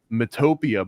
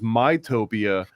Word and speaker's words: Mytopia: want to get to, the girl in the video said um Mtopia, but it was mytopia, which is interesting because like myopic Utopia, but also Utopia would be like I'm talking about phonetically yo U like Utopia, but hers is called Mytopia. So I mean it it's